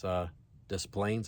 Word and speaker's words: Des Plaines: It's Des Plaines, I guess how you pronounce it.